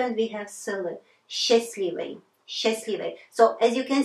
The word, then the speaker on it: счастливый: But when we pronounce, we drop.